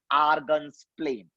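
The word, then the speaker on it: Argand's plane: पहली बार सुना होगा डी इज साइलेंट, क्या बोलते हैं बच्चा? आर्गन्स प्लेन।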